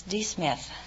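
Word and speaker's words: D'Smith: see you miss smith is that right uh my name is not smith it's d smith oh it's d smith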